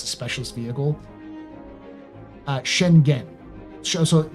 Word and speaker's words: Schengen: Schengen. So like, she and Jen again. It's like she in gen, or is it Shen gen? G, like hard G go. So Schengen.